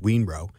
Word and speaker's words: Yunrou: but it's pronounced Wenroe and Monk Wenroe was a wonderful guest of